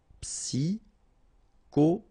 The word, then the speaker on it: psychologique: Psychologique. Okay, remember at the end you get this K. Okay, so ic. and then Y is pronounced like I, psy, and then it's an exception here because normally we should pronounce it chaud, okay, but then we pronounce it co. Psychologique.